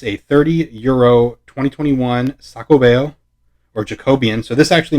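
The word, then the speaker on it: Xacobeo: nacional de madrid it's a 30 euro 2021 sacobeo or jacobian so this actually means jacobian because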